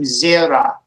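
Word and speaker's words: זֶרַע: So zara became zera, which means seed.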